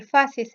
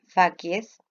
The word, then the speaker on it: facies: Se la llama aparente o de facies porque facies en latín, o si lo quieren pronunciar como corresponde en latín clásico, es facies, facies, no confundir con otras palabras en otro idioma.